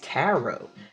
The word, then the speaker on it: tarot: So I didn't know if anybody was thinking like, she keeps saying tarot, it's tarot. But yeah, my pronunciation.